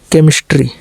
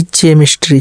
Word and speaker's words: chemistry: जैसे देखिए CHEMISTRY केमिस्ट्री, न कि चेमिस्ट्री, चेमिस्ट्री नहीं बल्कि केमिस्ट्री ना का।